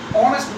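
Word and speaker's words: honest: अब अगर मैं यहाँ पर लिखता हूँ ऑनेस्ट मैन, अब देखिए ऑनेस्ट एच से भले ही शुरू होता है, देखिए यहाँ पर एच साइलेंट है, एच क्या है यहाँ पर? साइलेंट है।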